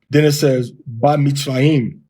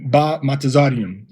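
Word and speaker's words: במצרים: In the ancient, almost a millennia old pronunciation system that we can document and reference, it would be Ba Mitzrayim. Ba Mitzrayim. Now, I know some of you said it should be Be Mitzrayim, but in the Tiberian pronunciation system, the Shva does not make Ba. It does not make a Be. It makes Ba.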